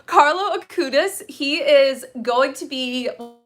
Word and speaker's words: Carlo Acutis: so today's topic is carlo atticus sorry i literally looked up and watched a video on how to pronounce his name so carlo akudis he is going to